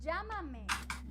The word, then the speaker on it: Llámame: Llámame, llámame. With the accent here, so we're gonna pronounce it higher.